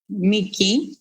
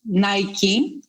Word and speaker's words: Niki: ancient goddess of victory Niki Nike if you prefer a more American pronunciation of the name can you tell us